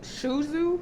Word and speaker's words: Shudu: have an african model her name is shuzu shuzu i think it's pronounced y'all gotta check that